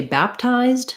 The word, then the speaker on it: baptized: at the end baptize when i add the d to say baptized she was baptized i don't have any sound for that e i just add the d sound that might be challenging